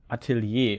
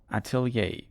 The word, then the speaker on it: Atelier: have a mod called This is pronounced Atelier would be the German pronunciation but maybe we consult